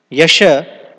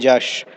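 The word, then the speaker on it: যশ: Yasha, we sing in this Guru Vandana song every morning. Ebe Yash Ghushuk Tribhuvana. Although we say Yebe Jash, because in Bengali sometimes Ya is pronounced as Ja, like in Spanish.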